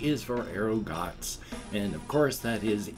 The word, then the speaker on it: Erugaz: which is ah and a z which is a ts sound so that's arugata is one of amigaratsu